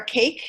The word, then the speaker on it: CAICC: first one is our cake it is pronounced just like cake that it's caicc that's